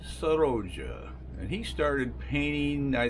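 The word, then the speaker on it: Sorolla: one of my favorites Joaquin saroja or sorrows as the Spaniards would say is that it's not spelled like it sounds but Joaquin sahaja and he started painting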